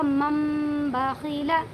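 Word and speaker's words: مَنْ بَخِلَ: من پڑھیں، اسے نہیں، یہ پڑھا جائے گا مم باخیلا۔ سمجھ میں آ گیا؟ یعنی اس نون کو میم سے بدل دیں گے اگر با آئے گا تو۔ اس کی ہجے ہم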